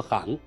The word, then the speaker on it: 行: 这个行可以读作行。